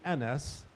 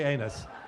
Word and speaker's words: Anas: But so if you want to call me Anas, don't mispronounce me. Call me asshole, but don't call me Anus.